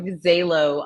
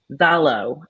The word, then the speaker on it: Zalo: some yummy Zelo products zalo I keep saying Zelo but Melissa pronounces it zalo so I need to respect how she says her client's name yeah yeah um okay